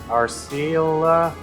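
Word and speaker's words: Arciela: It's like R, and then it's Ciel, like C-I-E-L, and then there's an A at the end.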